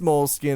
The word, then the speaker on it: Moleskine: I think it's pronounced Moleskine. It's spelled Moleskine. It sounds like Ben Stein.